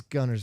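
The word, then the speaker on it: Guntersville: It's Gunnersville. That's how everybody says it.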